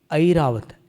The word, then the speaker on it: ऐरावत: ऐरावत ऐरावत नहीं ऐ संस्कृत में ऐ उच्चारण करना है।